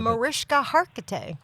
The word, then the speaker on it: Mariska Hargitay: You did get to work with, and I'm going to get her name wrong because I don't know how to pronounce it. Mariska Hargitay.